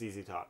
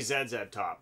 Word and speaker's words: ZZ Top: they've established that name it's zz top it's easy top yeah but in all other circles it isn't it's supposed to it should be zed's at top but yeah there are